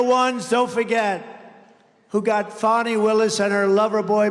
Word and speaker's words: Fani: But many, many people, their lives have been destroyed because of Fani, F-A-N-I, Fani. You have to pronounce it Fani.